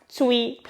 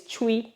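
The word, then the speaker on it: Twi: particular place do you know that i usually pronounce chuwi as tui because the language is spelled t-w-i it was when i said it again corrected me and said it's chewy i was like okay really that was really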